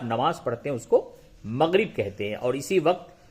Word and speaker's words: مغرب: مغرب، میم غین زبر مغ، رے بے زر رب، مغرب. مغرب کے معنی کیا ہوگا؟ جی ہاں، پچھم. جس طرف رخ کر کے آپ نماز پڑھتے ہیں اس کو مغرب کہتے ہیں، اور اسی